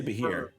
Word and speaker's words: Bheur hag: I think it's pronounced Bheur, yeah. That didn't help me at all. Or- Beer hag? Like, It's Bheur. Like Beer.